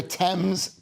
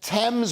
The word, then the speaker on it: Thames: that it's a 1.6 million pounds a year Thames Thames not Thames waterboards your shows I'm British just like you I pronounce it Thames yeah blames her leaking pipes